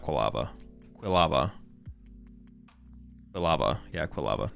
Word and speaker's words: Quilava: How do I pronounce it? Oh, it is quava, right? Yeah, it is quava. Not quava. Quilava.